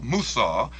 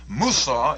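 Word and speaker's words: موسى: Musa is the Arabic pronunciation of Moses.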